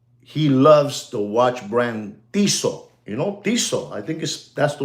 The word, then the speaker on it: Tissot: Ladies and gentlemen, there's a gentleman that he loves the watch brand Tissot. Tissot. I think that's the way you pronounce it.